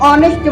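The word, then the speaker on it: honest: कहता है है कि जो शब्द एच से शुरू होते हैं और उनमें एच साइलेंट रहता है तो उनसे पहले भी एन का प्रयोग किया जाता है for example an hour an ऑनेस्ट मैन एन air extra अगर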